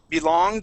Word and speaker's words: belonged: had said belonged okay so remember when we have ed endings we don't want to pronounce that e we just want to say belong okay okay awesome nice